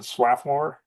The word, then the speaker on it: Swarthmore: it's crossbody and swathmore I guess in in Philly they pronounce it swathmore and lands down well